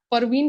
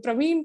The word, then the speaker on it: Parveen: I always call him Praveen Praveen it reminds me saying that hey it is not Praveen it is you're being an English trainer and you pronounce my name uh in a wrong way that's really really bad